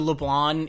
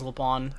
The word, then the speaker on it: Leblanc: Is the C silent? They don't pronounce the C in the English VO, which is what I listen to.